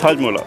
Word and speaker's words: Hajmola: Can you pronounce that? Hajmola. Hajmola. How do you say that? Yeah, it's Hajmola.